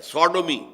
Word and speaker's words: Sodom: کی طرف جو ہے منسوب کیا گیا ہے، سوڈومی، سودوم وہ شہر تھا، صدوم جس کو ہم